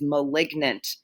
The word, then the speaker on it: malignant: The adjective form of malign is malignant. So in that case, you do kind of pronounce the weird GN in the middle of the word.